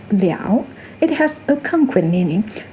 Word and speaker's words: 了: Its pronunciation also weakened from liao to le with the neutral tone.